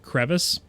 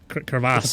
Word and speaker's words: crevice: a a crevice that that's not at all how you pronounce that word crevice there we go yeah crass French word no no it's crevice in American it's crevice in American not even English just American okay it's